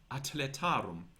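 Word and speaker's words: athletarum: For example, spelling acletarum with a C for atletarum spelled with a TH, which shows that TH was not pronounced th, but was practically a T, t, an aspirated T, atletarum.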